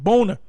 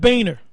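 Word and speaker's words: Boehner: pronounce his name actually it's a German word and it's pronounced boner not Baner all right you got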